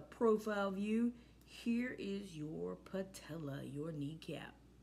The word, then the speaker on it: patella: here the actual name your patella paw tell uh and some of you like Co like it rhymes with Nutella yes don't eat Nutella